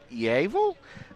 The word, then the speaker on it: EAVL: Going to be EAVL, which is pronounced Eavil, uh versus the AC Knights.